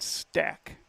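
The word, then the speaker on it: Stach: They'll send up to 6, 7, 8 hitters, Alex Meidinger, Zach Anderson, and Brody Stack. Spelled S-T-A-C-H, but the coach said it's pronounced Stack.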